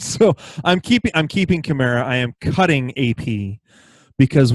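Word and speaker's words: Kamara: it but Ingram Peterson and camara apparently as it was said throughout Monday night as it's supposed to be pronounced who are you keeping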